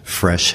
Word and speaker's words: Fresche: up on the Internet fresh has a very unique spelling its F our e.s CH e it's spelled like that because it reflects the original French spelling of the word fresh and so because we're